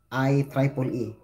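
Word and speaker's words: IEEE: organization is now Officially known as iiee pronounce I Triple E and no longer refer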